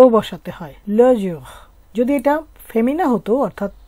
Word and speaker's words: le jour: আর এর উচ্চারণটা একটু হালকা করে উচ্চারণ করলেই হয় জুহ, ল জুহ অর্থ দিন।